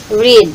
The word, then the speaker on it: read: so Parehas lang Okay Magkaiba lang yung ano niya pronunciation present tense is read okay ang Past Tense naman niya Is Pag binasa mo siya red Okay so the students